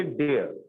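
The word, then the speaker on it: dare: आज पढ़ेंगे आज पढ़ेंगे डेयर। डेयर में आर साइलेंट होता है, पहले समझ लीजिए।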